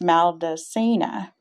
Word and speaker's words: Maldacena: Some believe the M is for Maldacena, pronounced Maldacena, after the Harvard-based theorist Dr.